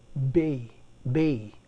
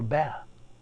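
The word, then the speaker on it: בְּ: We have the preposition Bay or ba. Pronounce it ba.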